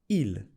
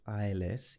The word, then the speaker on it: ils: Now, did you notice I didn't pronounce the S at the end of ILS, il and L? I didn't say ils, else, or I didn't say nous, vous. That's because in French, when a word ends in a consonant, usually the consonant is silent. There are exceptions to this rule, but generally in French, when it ends in a consonant, you don't pronounce it.